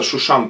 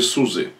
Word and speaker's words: Шушан: Вот, и послезавтра тоже праздник, как продолжение праздника, называется Шушан Пурим, то есть Пурим в городе Сузы. Ну, в русском произношении «сэ», «сузы», а так «шушан» на еврейском языке, «шушан», «шушан Пурим», «Пурим